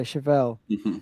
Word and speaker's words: Chevelle: Chevelle. Yeah, Chevelle.